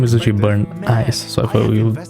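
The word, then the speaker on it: Burnice: young leader of a legendary biker gang, and Bernice, the master mixologist from the Outer Ring. But, they're still not here. Because the name is actually Burn Ice, so I thought we would pronounce it Burn Ice.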